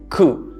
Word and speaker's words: coup: government as a result coup an uprising or a rebellion staged by a group of people cool no p involved that said i want